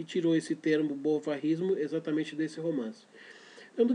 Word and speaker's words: bovarismo: A psicologia depois acabou tirando até o termo bovarismo ou bovarismo, se você quiser afrancesar a pronúncia.